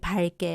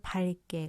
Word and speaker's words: 밝게: 발음한다 예시가 적절하죠 밖게 밝게 어떤게 맞을까요 용혼의 여간 마음 리을 기역은 기역 앞에서 리을로 발음한다 자 기역이 대표 음이지만 뒤에 같은 기억이 올 때는 리을로 발음한다고 말씀을 드렸죠 그래서 밝게 맞습니다 자 그다음에 리을 기억이